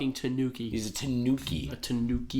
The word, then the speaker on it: Tanooki: see this this full-fledged Tanuki I've only ever seen a Mario so the reason also it's spelled Tanooki so oh it's not I'm a stupid idiot it's a Japanese raccoon